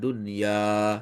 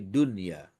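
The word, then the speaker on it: دنيا: Makanya bacanya enggak boleh panjang. Bukan dunya, tapi dunia. Pendek aja bacanya.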